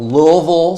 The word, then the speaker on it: Louisville: Louisville.